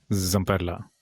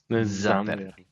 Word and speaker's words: Zamperla: Zamperla. Zamperla. Espero también que todos ahora los que nos escuchen empiecen a pronunciar la Z.